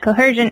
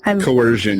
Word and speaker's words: coercion: a lot of people shy away from is cohesion or coh if I can't even say it correctly coercion am I saying it correctly coercion yep coercion thank you okay embarrassing anyways I